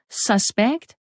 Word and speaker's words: suspect: Harrison to be president the next word is is suspect or suspect suspect or suspect suspect which